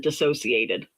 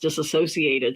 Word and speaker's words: dissociated: Disso- I I pronounce it something I pronounce it dissociated from reality. I've heard it pronounced disassociated, so I had to go back and say it Think, am I been saying this wrong?